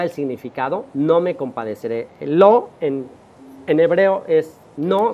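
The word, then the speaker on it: לא: mismo nos da el significado no me compadecer lo en en hebreo es no se dice lo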